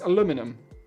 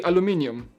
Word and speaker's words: aluminum: see how he says aluminum how do you say it i say aluminum in poland you say aluminium with an extra eye aluminum let's see how